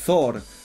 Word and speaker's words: Thor: Alors le TH, faut pas oublier que ça se prononce. Donc c'est Thor, les Rohirrim, Rhûn.